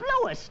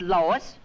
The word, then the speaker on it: Louis: the plant Lois Lois me name is Lois not Lois J whz everybody in toates me name wrong it's leis l o u i s Lois uh Louise Lucy